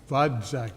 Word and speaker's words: Vodzak: Vodzak, V-O-D-Z-A-C-K. Vodzak, am I saying correctly? All Vodzak? right, Vodzak.